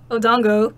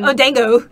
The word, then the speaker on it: odango: outad of lead see I thought she was saying oh dang odango oh it's spelled odango is it really yeah